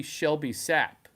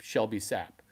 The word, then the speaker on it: Shelby Sapp: That would be Shelby Sapp. Shelby like the Mustang, sap like tree sap. Shelby Sapp.